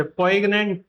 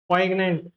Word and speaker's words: poignant: poignant, poignant. Actually, ये जो G है, this G is completely mute और completely silent, तो इसीलिए इसका जो pronunciation हो जाता है poignant, poignant, poignant.